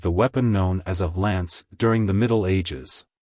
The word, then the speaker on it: Lance: at the beginning and pronounce the a as in ant then the n and S sounds follow smoothly like hello Lance goodbye Lance if you found the